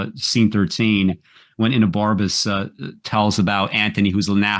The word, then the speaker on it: Enobarbus: We're going to, am I pronouncing his name correctly? Yes. Enobarbus? Yeah, Enobarbus. For some reason, I thought there was a D in there.